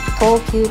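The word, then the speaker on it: 藤球: 正解はセパタクロー、投球と読みます。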